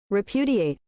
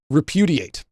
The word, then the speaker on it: repudiate: Uh, how do you pronounce it though? How to pronounce? Repudiate. Repudiate. Sorry. Repudiate.